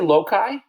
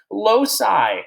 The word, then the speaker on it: loci: did you just say loci Maxwell come on how dare you Maxwell loci you kidding me Oh Raymond's and training you're saying loci oh come on now come on now it's pronounced low sigh okay load sighs so